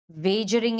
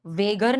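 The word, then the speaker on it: wager: वेजरिंग agreement वेगर नहीं बोलते इसको वेजर बोलते हैं। ठीक है? कुछ-कुछ लोग उसे वेगर प्रोनाउंस करते हैं।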